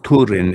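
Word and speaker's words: Túrin: Well, it's Turin, and it's supposed to rhyme with Hurin because all of the names had fucking like rhymes and shit in the Silver.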